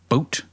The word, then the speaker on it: Bout: exploits of arms dealer Victor bout boot boot b-o-u-t it says pronunciation looks like it's boot boot we recorded in Wikipedia